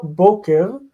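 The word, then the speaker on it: בֹּקֶר: Boker, as in Boker Tov. So we see the word stress is on the first syllable.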